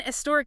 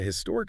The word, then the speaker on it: historic: Well, traditionally, especially in British English, the H in historic was sometimes pronounced quite softly or even almost dropped.